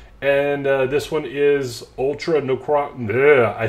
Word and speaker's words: Necrozma: We have the Ultra Necromanza GX. So what they like to do is they like to show you some deck strategies. And this one is Ultra Necrozma.